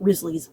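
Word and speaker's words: Wriothesley: their inside little joke about Risley's name, because the way his name is spelled does not look like how it's pronounced whatsoever.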